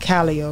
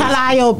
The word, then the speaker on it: Calliope: The biggest thing that I keep hearing about Calliope, right?